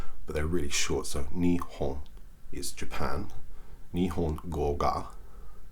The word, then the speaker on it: Nihon: So watashi wa nihongo ga. Nihon is how you say Japan in Japanese. It's written as Nippon in English, but it's pronounced Nihon.